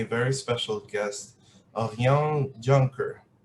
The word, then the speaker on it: Juncker: with me a very special guest of young juncker how are you really good thank you and congratulations on the pronunciation of my name so we are